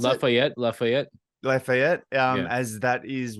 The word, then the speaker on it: Lafayette: Is that how you pronounce it? Lafayette.